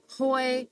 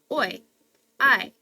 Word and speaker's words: hoy: make sense anyways so we know the AES aren't going to be pronounced so it's not Hoy hey and Horus it's o i oras but then we've got